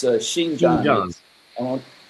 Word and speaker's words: Xinjiang: Xinjiang. It's Xinjiang. Xinjiang. I won't spell it for you, but Xinjiang.